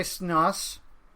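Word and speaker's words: Schnaas: But, yeah, I sat through because it was requested, a Andre Snoss. That is how you pronounce it, though I still want to say Snossage. Andre Snoz.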